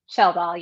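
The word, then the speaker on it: Schjeldahl: Sheldal, yes. It's Sheldal, just like okay. shell like a seashell and doll like a baby doll.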